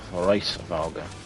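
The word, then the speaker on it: Hraesvelgr: That's how they pronounce it in the game, Hraesveglr.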